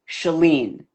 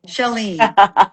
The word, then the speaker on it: Chalene: This is for my mother. It'll make her so happy. Shelene. And it it rhymes with Seline like Selene the Ser. Okay, Shelene.